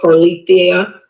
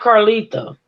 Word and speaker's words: Carlethia: Yes, my daughter's name is Carlethia Foley. Carlethia. Oh, it's Carlethia, not Carletha. Okay, Carlethia.